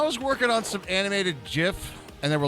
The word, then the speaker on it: GIF: working on some animated gif and they were like like Flubber people be so confused always decide the pronunciation is based on Words similarly spelled like them so uh GIF is pronounced like gift your logic is sound